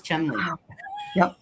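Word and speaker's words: Cholmondeley: ciao mundeleinely yeah yeah yeah and that was Chumley well we have the same thing here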